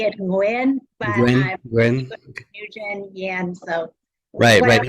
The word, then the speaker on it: Nguyen: Vietnamese last name, and I think it's pronounced Nguyen or something like that. But, how are you doing today? Good, good. Thank you so much, Dan. We say it Nguyen, but Nguyen, I'm Nguyen.